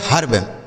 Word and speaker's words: herb: जैसे HERB, तो यच से हो गया आपका हा, इस ई का उच्चारण आ हो जाता है, मतलब इसे लिखा नहीं जाएगा, केवल ऐसे पढ़ा जाएगा, ठीक है।